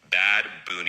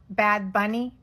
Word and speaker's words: Bad Bunny: 2025 Super Bowl halftime show will be performed none other than Bad Boon. Bad Bunny. It's uh Bad Bunny. Not. It's not pronounced bad boonie.